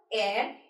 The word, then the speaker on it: heir: देखिए, AIR air and HEIR air, दोनों की same pronunciation लेकिन meanings different.